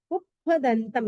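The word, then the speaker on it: पुप्फदंतं: में हो जाता है पुष्प, लेकिन प्राकृत में पुप्पदंतम। ये प्राकृत जितनी भी हम प्रतिकरण की पार्टियों का भी मीनिंग कर रहे हैं, सबकी सब प्राकृत लैंग्वेज है, इसीलिए हमें उसके हिसाब से ही उच्चारण करना है।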